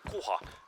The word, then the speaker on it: kuha: Kuha.